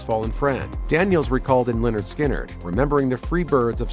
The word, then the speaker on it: Lynyrd Skynyrd: It didn't lead to much at first, but the band forged their sound, releasing their debut album pronounced Lynyrd Skynyrd in 1973, which went certified gold by the end of 1974.